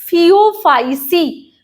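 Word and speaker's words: Phaeophyceae: अब ए बी, अब pronunciation पे आते हैं, फियोफाइसी, फियोफाइसी, तो सी, फियोफाइसी, वैसे क्लोरोफाइसी में भी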